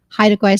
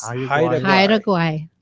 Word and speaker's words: Haida Gwaii: And now called, how do you pronounce it? Haida Gwaii Safaris. Haida Gwaii.